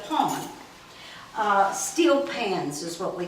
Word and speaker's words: pan: what we call a pawn. You would call it a pan, they call it, and they still spell it P-A-N, but they call it a pawn.